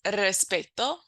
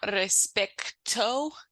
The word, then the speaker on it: respeto: spell it in Spanish there's no C so it's not respecto it's respecto and sometimes if you